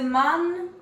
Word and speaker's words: man: The man ran after the bus. Okay, firstly, what that A in man is a smiley face.